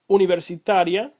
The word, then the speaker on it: universitaria: If it's on the second to last syllable, it is known as llana.